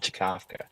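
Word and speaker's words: Czkawka: what it means but it's called chakka Oh I thought you said hiccup all right I got now now I have to find it but it's spelled spelled c Z Ka a WKA or something like that it's very it's it's it is it's a Polish word for hiccup yeah I've been running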